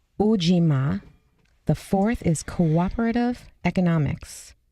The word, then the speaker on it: Ujima: This word in Swahili is pronounced kujichagulia. The third is collective work and responsibility, and it's ujima.